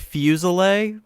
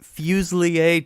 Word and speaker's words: Fuselier: It's it's usually pronounced Fuselier, but Fuselier technically is Right. probably more correct than the way we pronounce it. So Right. It sounds French. it's kind of an English version of French.